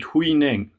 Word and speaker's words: Huineng: His name in Japanese is Enno. I think in Chinese you pronounce it Huineng.